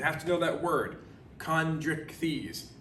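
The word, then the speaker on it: Chondrichthyes: to know that word chondric thies it's kind of said just like it's spelled so write that down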